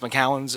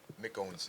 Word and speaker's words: McOwen: And last but not least, McCowan's, or how do you say your name? McOwen's. McOwen, my bad.